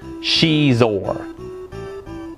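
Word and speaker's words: Xizor: the evil black son's syndicate known as Prince cheese or yeah it's pronounced cheese or who knew right the game has a variety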